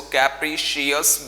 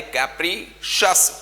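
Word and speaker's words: capricious: बहुत सारे लोग इसको कैप्रीशियस बोलते हैं, जो बिल्कुल गलत है। ये कैप्रीशियस नहीं होता, ये कैप्रीशस होता है।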